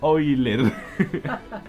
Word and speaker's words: Euler: Se pronuncia Euler.